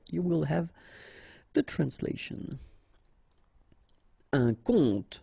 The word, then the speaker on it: conte: Un conte, so exactly the same pronunciation, but then of course the meaning is different.